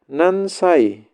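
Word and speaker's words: 何歳: Wa nansai. Cara nanya. Ini kanjinya nani. Karena ada kata benda disebut cara bacanya nan saja. Nansai.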